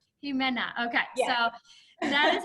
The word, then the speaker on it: Ximena: So for the listeners or the viewers today, can you share with us how to actually pronounce your name properly? Ximena. Ximena.